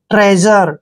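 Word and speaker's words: treasure: और देखिए यहां पर यू आर ई का उच्चारण हम र करेंगे देखिए बिल्कुल अलग तरीके से पढ़ना है इसको ट्रेजर ठीक है ना आपने ट्रेजर नहीं पढ़ना है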